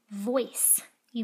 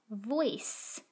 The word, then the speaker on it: voice: the c says oys voice don't say voicey the c pardon me the e is only there so that the c can become a cat it doesn't make any sound let's look at a